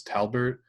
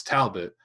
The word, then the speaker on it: Talbot: don't know why but a lot of people mispronounce my last name is Talbert yeah it's Talbot yeah I'm like I